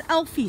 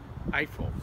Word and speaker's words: Eiffel: cool is that see it's Elfi Street right is that how you pronounce it Eiffel Eiffel oh okay so it's still